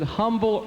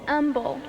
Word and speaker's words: Humble: Now, is it humble or umble? It's umble. There's no H. The H is silent.